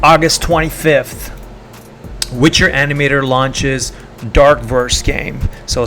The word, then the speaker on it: DRKVRS: 25th Witcher animator launches dark verse game so spell drk vrs as we know in web 3 world we don't pronounce vowels so it's dark first